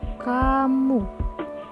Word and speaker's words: kamoe: Pada ejaan KAMOE dibaca kamu.